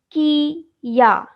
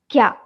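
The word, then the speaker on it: きゃ: Okay, both the syllables we are going to read separately, but when this ya is smaller, then it makes it a digraph. So that time we are going to read it as kya.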